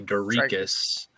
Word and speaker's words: Dricus: Somebody coached me on how to say his name properly. Dricus. Yeah.